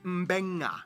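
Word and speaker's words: Beqa: Both Q and G make the ng sound. Therefore, the town of Nadi is actually pronounced Nandi. And this word is pronounced Mbenga.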